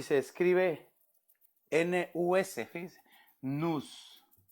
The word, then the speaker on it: nus: Hebreo 51:27 y se escribe N-U-S, fíjense, nus.